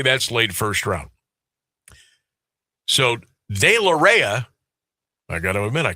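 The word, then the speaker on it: deLarrea: Dailoreia. And it's it's weird because it it's spelled uh lowercase d lowercase e capital l and then lowercase a r r e a.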